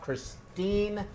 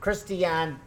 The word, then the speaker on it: Christiane: Last but not hardly least, we have Christine. And am I saying that right? It's Christiane. Christiane. Is that how you say it?